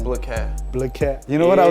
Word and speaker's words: Bliquez: BLIQUEZ. BLIQUEZ. You know what I was saying? I was saying BLIQUEZ.